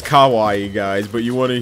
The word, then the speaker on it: kawaii: proper way to say cute ah okay it's kawaii guys but you want to hear what thomas